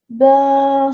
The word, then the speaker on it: ben: What we're doing here is we're using the filler word ben which is not pronounced Ben for Benjamin or the name Ben.